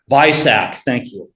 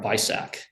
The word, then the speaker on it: BISAC: If you look at the second one, delete field 600 if 600 subfield 2 matches Bizach, what's the official pronunciation? Anyone? Bisac. Thank you. All right, Bisac.